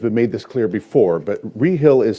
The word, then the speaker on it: Rehill: this clear before but rehill is spelled r-e-h-i-l-l am i correct yes okay and we pronounce it re-hill not ray hill am i correct that correct very good